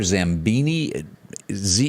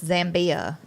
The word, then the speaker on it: Zambia: Wherever Zambini, how do you pronounce it? Zambia. I guess it was it's Zambia.